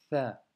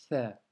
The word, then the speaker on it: ث: fois, ça sera un Tha. Pour la prononciation, cette fois, à ne surtout pas confondre avec un F de la lettre Fa, car ça, c'est vraiment une autre lettre.